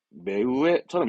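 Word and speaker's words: 目上: 눈 위를 말하는구나 그러면 눈은 매라 그러고 위는 위니까 발음은 매우 매우에처럼 있게 되죠 요게 훈독입니다 물론 혼자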